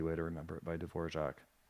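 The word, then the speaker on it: Dvořák: Because the R is Oh, I actually have pronounced more of like a zh.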